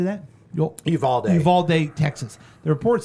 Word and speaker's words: Uvalde: Uvalde, Texas.